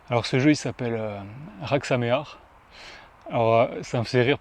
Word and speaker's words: Hag Sameah: Alors ça me faisait rire plusieurs parce que c'est assez dur à prononcer quand on ne connaît pas l'hébreu. Donc en fait, c'est très simple. Comme mémo technique, c'est comme s'il y avait un R au début et un R à la fin.